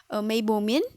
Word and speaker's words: Meibomian: Okay, इसकी pronunciation Meibomian gland.